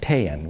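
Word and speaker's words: paen: do you find the indo-european stem is pronounced pan we would spell it p-a-e-n and lo and behold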